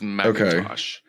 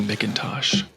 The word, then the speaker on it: McIntosh: a post from 2013 pronounced the same way as Macintosh computers oh okay looking pretty unanimous so it is McIntosh wow at least I didn't let you keep saying mckintosh thank you thank you